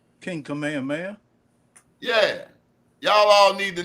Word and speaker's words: Kamehameha: Since you are in New York out there in Hawaii, can you pronounce his name? King Kamehameha. Yeah, y'all all need to know King Kamehameha.